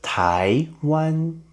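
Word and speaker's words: 台湾: Second tone and first tone. Da, da, da, da, da, da. Da, da. Nice. Look at this word. Taiwan.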